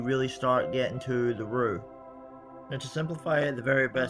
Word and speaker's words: roux: we're moving straight on to start on the roux. That's spelled R-O-U-X.